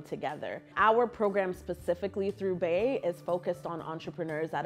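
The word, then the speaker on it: BYEH: our black youth entrepreneurship hub the acronym is pronounced bay b-y-e-h we will be launching our new program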